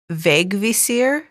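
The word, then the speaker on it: Vegvísir: to try it um vague visir uh which is spelled v EG v i s i r but that first I has a little accent going off to the right so vague Vere um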